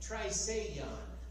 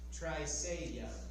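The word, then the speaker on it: Trisagion: Triseion is how this word is pronounced. Triseion.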